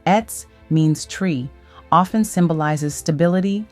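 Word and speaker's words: עץ: A tree, pronounced etz, means tree, often symbolizes stability, life, and growth.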